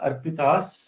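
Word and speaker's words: अर्पिताः: Yasmin Surya Arpitas Saptasakam. Now, even though it is written as Arpitah, but the correct writing is Arpita Sapta. Sapta. Because the ha is not pronounced.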